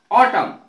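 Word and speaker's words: autumn: देखे एम के पश्चात यदि एन आए तो साइलेंट रहेगा जैसे ऑटम ए यू टी यू एम एन ऑटम ऑटम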